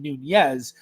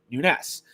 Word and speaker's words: Nunes: And no, I'm not mispronouncing Nunez. I'm pronouncing it the Portuguese way, which is the way that my family pronounced it, Nunes.